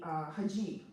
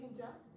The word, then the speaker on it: hijab: Same with the hijab, wearing any kind of head covering. You mean hijab? Hijab, yes. Hijab, Hijab. whatever it is, pronounced both ways.